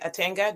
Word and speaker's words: Atanga: Yes, you say my name is Attanga.